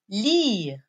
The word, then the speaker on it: lire: Boire, qui se termine avec R-E. R-E, qui se prononce re.